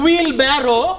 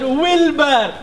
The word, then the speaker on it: Wilbur: for the beautiful song my name is not a wheelbarrow but wilbur but you can call